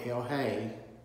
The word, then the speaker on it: El Chay: el hay or lj i've heard it pronounced two different ways it's i think it's probably hell hey and it means the